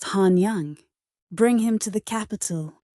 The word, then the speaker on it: Hanyang: Bring him to Hanyang, pronounced Hanyang.